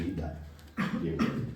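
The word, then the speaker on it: the: उनके साथ कभी-कभी हम द का वर्ड लगाते हैं। है ना? टी एच ई द इसको प्रोनाउंस करने के कितने तरीके हैं? दो। दो। एक है द एक है दी।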